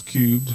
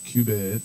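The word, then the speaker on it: Qubed: Cube Entertainment is cubed, not cubed. Yeah, spell that think. For everybody. It's Q-U-B-E-D, and the genesis of it is that so I use the Q.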